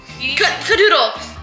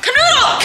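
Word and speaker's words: Kanoodle: Cadoodle. No, that you're saying it wrong. Canoodle!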